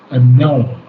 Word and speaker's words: annul: And then the word annul. Annul. Annul. Annul. And annul. Annul. Yes, annul. It's accent on the second syllable.